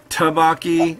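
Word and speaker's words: 떡볶이: hard to pronounce correctly taboc e it's not tough it's a soft T because it's like two DS one after the other so it's like to do bhakti yeah I don't know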